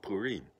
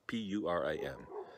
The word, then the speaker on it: Purim: actually the establishment of another jewish peace called purim now it's about p-u-r-i-m but don't pronounce it purim that's that's not right purim